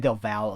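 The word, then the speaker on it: Del Valle: David Del vallier uh David Del Val is how he says my wife teaches Spanish when I see v-a-l-l-e I want to say value but that's not how he pronounces it uh Neil sin yard on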